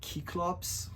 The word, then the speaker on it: Cyclops: Um in some translations they render sort of the original ancient Greek and so it's more like like cyclops like the C is pronounced like a K and and the plural cyclops is cyclopes or kikipes.